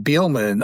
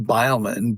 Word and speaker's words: Beelman: I mean, our name, Beelman, often is pronounced Beilman, but the AI got it right.